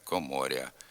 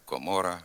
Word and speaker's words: комора: р перед а в окремих словах гряд квартиря коморя макитря ряма така вимова також є діалектною ненормативною слід вимовляти град квартира комора макітра рама тепер зробимо вправи з